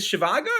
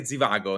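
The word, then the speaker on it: Zhivago: who don't know Dr is it shivago I say Zago in Italian how do you say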